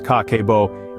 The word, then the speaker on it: Kakeibo: art of mindful money management in Japan Cabo pronounced kako is a traditional Japanese method of managing and